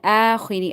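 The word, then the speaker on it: الآخِرِ: Billahi wal yawmil akhiri. Again, you need to stretch it. There's a standing fatha. Akha. You have to take it out from your throat.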